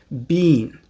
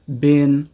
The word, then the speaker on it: been: Now, let's look at been, which most people in the UK pronounce been, but most people in the US pronounce either been or been.